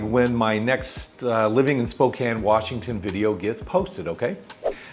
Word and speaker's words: Spokane: First, let me start by telling you that our wonderful city is not pronounced Spokane. And it's not wet and dreary like the other side of the state where I think there are more slugs than there are humans. Our city is pronounced Spokane, and our weather is